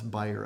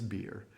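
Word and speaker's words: bier: i e r as buyer. A funeral buyer. Uh, you learn something every day. And this week I learned the proper pronunciation is beer.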